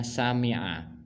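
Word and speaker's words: سَمِعَ: Di sini ada kata kerjanya dalam kurung sin mim ain itu bacanya sami'a.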